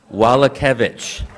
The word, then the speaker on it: Wallace: stand up please give it to us Wallace just like it says okay welcome to